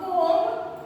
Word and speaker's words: comb: Beside that a comb, not comb, C-O-M-B. B is silent, it's a comb. Tom, T-O-M-B. B is silent here, Tom. We need to pronounce it as a comb.